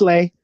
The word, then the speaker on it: Leah: Because I like you, Leah. Is it Leah? Am I saying it right? it's lay.